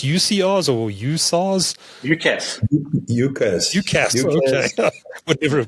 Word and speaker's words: UCaaS: Everything seems to be as a service these days, but UCR, is it pronounced UCRs or USARs? UCaaS.